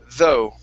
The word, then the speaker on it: though: is the word though instead of the GH do not make a sound so this is though though all right very nice